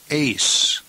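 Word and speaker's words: εἰς: number one haste now be very careful that you don't confuse this with the preposition ace notice the preposition Ace does not have an accent and it has smooth breathing. Whereas the number 41 case has rough breathing and an accent.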